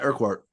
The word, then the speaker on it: Urquhart: Yeah, Urquhart.